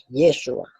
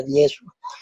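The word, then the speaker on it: ישוע: Esta es la forma como se escribía antiguamente Yeshua.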